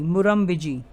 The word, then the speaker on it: Murrumbidgee: तो मैं म्यूरम-बिजी रिवर की स्पेलिंग लिख देता हूँ, MURRUMBIDGEE, मुरम-बिजी।